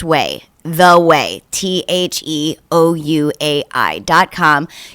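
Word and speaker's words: OUAI: whey yes it is they spell it o-u-a-i it's pronounced way the way t-h-e-o-u-a-i dot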